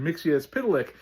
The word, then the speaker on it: Mxyzptlk: show and then unfortunately he was Mr. Mixier is spitlick which I did not appreciate because I don't like it character spit in their you know cartoons. So in the newer cartoon the my adventures of Superman show he is back to Mr. Mixie as Pitilik and that is the right way to do things I